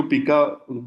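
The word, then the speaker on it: pica: कुछ लोग हैं जो पिका बिहेवियर भी कहते हैं, लेकिन मुझे लगता है कि इसकी जो सही जी जी प्रोनाउंसिएशन वो पाइका ही है।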